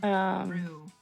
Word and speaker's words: Rouge: By the way, it's pronounced Rue.